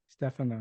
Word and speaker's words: Stefano: years I thought that the screenwriter of psycho pronounced his name Joseph Stefano I spent a lot Stefano yeah that corrected me but his wife did